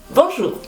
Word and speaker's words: bonjour: Fíjate que aquí tienes OU y OU se pronuncia U. No es O, es U. Bonjour.